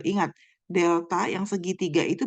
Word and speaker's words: Delta: makro itu akan menggunakan tanda ini dia bacanya Delta ini nah Delta ya bacanya dalam ekonomi makro kalau